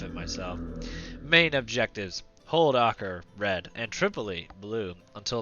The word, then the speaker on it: Acre: I had never knew that city was pronounced Acre.